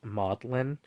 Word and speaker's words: Magdalene: um but she was the way she pronounced this Magdalene is um modlin um it's like an easier pronunciation for singing and also it doubles